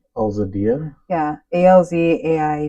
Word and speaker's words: Eladia: her say her name so I'm going to spell it so my so our followers can hear it correctly eladia yeah a LZ a i d yeahia there